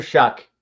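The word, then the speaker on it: Shough: I'll tell you this, Tyler Shuck. And I don't know how you why his name is pronounced Shuck because it's spelled sh H O.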